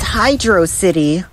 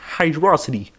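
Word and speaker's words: Hydrocity: to pretty please it's pronounced Hydro City I think you mean hydrosity you were abandoned at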